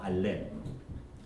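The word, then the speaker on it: אָלֶף: 의미가 있습니다 뜻 그 히브리어의 맨 첫 글자를 알이라고 읽어요 알렙 영 음가는 영어의 와 똑같아요 아 발음이 나는 알레인이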